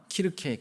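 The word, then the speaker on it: Kirche: 바로 이 키르케라는 단어가, 키르케, 키가 독일에서는 CH로 시작하는 걸 키라고 발음을 하거든요.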